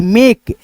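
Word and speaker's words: make: तो यहां पे म में एकले की मात्रा के से क यानी इ का जो ध्वनि होगा लास्ट में दोस्तों साइलेंट हो जाएगा। इ जो लास्ट में है ना के के बगल में इ का ध्वनि साइलेंट और ए से दोस्तों एकले की मात्रा लग जाएगा। जैसे यहां पे देखो एम ए के ई मेक जैसे यहां पे टी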